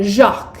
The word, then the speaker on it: Jacques: Smart, elegant, spelled J A C q Us, said Christopher. There had been a boy at school called school school called Jacques but pronounced Jacqu. So you would have silent letters which are just right for you.